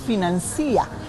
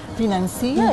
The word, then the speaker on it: financia: error clásico también es financia financia es un verbo regular porque nosotros lo pronunciamos denuncia no pronunciamos renuncia no tenemos la necesidad